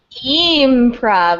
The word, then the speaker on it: E-mprov: E-mprov is how I say it.